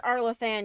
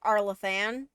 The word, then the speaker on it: Arlathan: I'm pretty sure it's pronounced Arlathan, but I could be wrong.